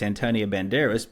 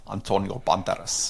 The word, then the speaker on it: Antonio Banderas: It's Antonio Banderas. But I think you'll find it's pronounced Antonio Banderas. That's exactly how it's pronounced.